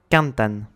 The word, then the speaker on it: cantan: Cantan, du verbe cantar, est accentué sur l'avant-dernière syllabe car il se finit par un N. Cantan.